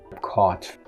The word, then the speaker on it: caught: past tense of think caught in all of these words that have gh the gh is basically silent the same is true